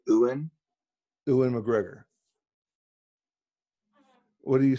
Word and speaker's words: Ewan: Is Ewan McGregor's name Ewan or Ian McGregor? It's not Ian.